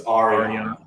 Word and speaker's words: Ariana: You should learn to pronounce her name right first. It's Ariana.